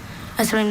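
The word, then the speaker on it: eserine: Esserine, may I please have, are there any alternate pronunciations? There's esserine and esserin. Okay. They both have the schwa in that second syllable.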